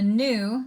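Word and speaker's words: gnu: animals the elephant the new that's a silent G like in that ostrich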